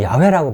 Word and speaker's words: 야훼: 그래서 이것을 발음을 해야 되기 때문에 우리는 야훼라고 발음하죠. 개신교에서는 여호와라고 발음을 하고 있습니다.